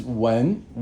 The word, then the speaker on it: 文: Now this when is second tone, and it has it means culture.